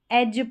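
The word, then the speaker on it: edge: यहाँ पर देखिए डी और जी के कॉम्बिनेशन में डी साइलेंट है। एज पढ़ेंगे, ब्रिज पढ़ेंगे, जज पढ़ेंगे, जज पढ़ेंगे, डी साइलेंट है इन स्पेलिंग्स में।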